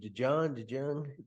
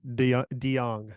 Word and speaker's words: DeJong: How do you say his name? DeJong? DeYoung. Oh, like DeYoung, like from Sticks.